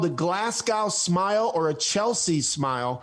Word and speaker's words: Glasgow: Americans say it Glasgow. Okay, it's you don't pronounce the W. It's Glasgow.